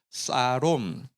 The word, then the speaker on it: 샬롬: 단어 평강이라고 한번 따라가겠습니다 샬롬이 좀 히브리어 발음으로 좀 비슷하게 하면요 한번 따라가겠습니다 사롬 근데 여기 어 형제